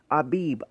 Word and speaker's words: Abib: out of the month Abib a beeb beeb in Hebrew which is spelled a bi B means April the month